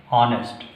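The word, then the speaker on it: honest: से पढ़ते हैं और एच को साइलेंट जोन में फेंक देते हैं और इसका उच्चारण किया जाता है ऑनेस्ट।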